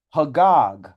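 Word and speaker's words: חג: here age 2287 so the word for that in Hebrew is hog hog U which is spelled c h a g a g so that's what this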